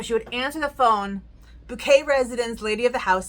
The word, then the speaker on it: Bucket: Before hyasin married into the family, the last name was bucket, but you can't have a last name bucket if you are class conscious and so you pronounce it bouquet.